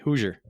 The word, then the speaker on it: Hoosier: I say Hoosier, like Hoosier Daddy. Hoosier.